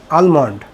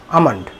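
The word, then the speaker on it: almond: সবচেয়ে মজার বিষয় হলো এখানে এল এর কোন উচ্চারণই হবে না হ্যাঁ এ এল এম ও এন ডি আমরা বলে থাকি কি আলমান্ড কিন্তু এটার সঠিক উচ্চারণ হবে আমন্ড আমন্ড এ এল এম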